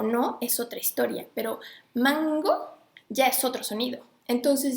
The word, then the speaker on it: mango: Digan mango. Aunque se escribe M-N-G-O, la lengua no la ponen en el paladar, la ponen en la garganta.